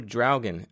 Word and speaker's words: Draugen: So, Dragan, um, that is how it is pronounced.